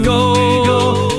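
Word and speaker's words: geaux: dashing down the field, shotgun passing play, to the goal we go, Tigers all the way. Grab a frosty Coke, drink it while you flex. Everyone knows go is spelled G-E-A-U-X.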